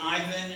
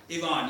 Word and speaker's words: Ivan: named Yvonne Tara ken now in English we usually say Ivan and so I'm gonna call them Ivan I think the bond is maybe the what's the correct way to pronounce it Yvonne yeah we're too dumb in America to say he'd gone so we say Ivan so anyway anyway I'm